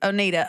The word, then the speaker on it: Oneida: Um okay, Oneida, Onata, how do you say it? Oneida.